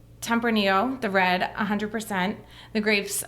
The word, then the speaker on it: Tempranillo: name, and I'm not going to try to pronounce it. So I throw want the you to. Tempranillo. Tempranillo.